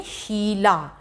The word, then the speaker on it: शीला: शीला, शीला यानी बड़ी जो ई है वो देर तक उसकी ध्वनि निकल रही है।